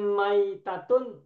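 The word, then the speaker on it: مَيْتَة: Mayitatun dan maitatun hurufnya sama. Mim, ya, Hmm. ta marbutoh. Ya. Tetapi Yang masih bacanya tasdid, berbeda. masih Kalau tasdid. maitatun, ya-nya sukun. Kalau Hmm. mayitatun, ya-nya tasdid kasroh.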